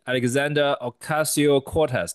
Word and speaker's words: Alexandria Ocasio-Cortez: Nuomo uh the governor of California uh AOC Alexander Okasio Cortez. Did I pronounce his name correct, professor?